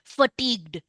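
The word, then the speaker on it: fatigue: absolutely फटीग्ड tired may be exhausted exhausted tired फटीग्ड एफ ए टी आई जी यू ई in Mehsana my students would pronounce it एज फटीग you spelling देखो एफ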